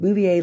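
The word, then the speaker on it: Bouvier: think it's bouier is what it's called it's pronounced bouier Law Dictionary 2012 now we get what you're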